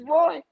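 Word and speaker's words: Roi: He's Roy. It's R-O-I. He's Israeli. I pronounced it.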